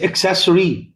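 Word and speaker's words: accessory: हमेशा याद रखिए डबल सी की आवाज डबल सी की स्पेलिंग में आ गई कभी भी तो उसको प्रोनाउंस किया जाता है क और स तो एक्सेस जैसे एक्सलरेशन है ना जैसे एक्सेसरी फिर उसके बाद में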